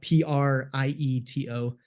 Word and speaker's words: Prieto: and Prieto is spelled p-r-i-e-t-o and if you say it with the Italian accent it's probably easier to spell it out right so Prieto and uh we um